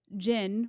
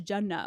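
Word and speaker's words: jinn: um but like S I was mispronouncing like Jin which are like Spirits as Jenna which is like a very different meaning Jenna is heaven like but anyway I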